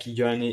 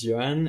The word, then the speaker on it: Yoann: take care of it don't worry for my name it's like Johnny it's it's fine how you pronounce it so as you said my name is Joanne and um I'm a